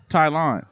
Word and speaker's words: Tylon: Tylon, I love you, bro. What's the in his purpose? Bro, really? How you pronounce your name again?